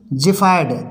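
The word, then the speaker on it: xiphoid: जीरोटस मीस होता है रूखापन इसी तरह से जि फाइड एक्स आई पी एच आई ओ आई डी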